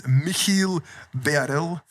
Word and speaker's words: Michiel Bearelle: Today's guest is Michiel Beerens. Did I Did I Did I pronounce it correctly?